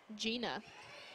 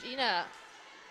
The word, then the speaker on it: Gina: Gina. Like jeans.